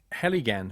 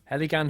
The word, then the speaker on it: Heligan: uh the Ali got you pronounced heligan honey ah helan honey and this is made with the Honey Of The Lost Gardens of helan hang on if they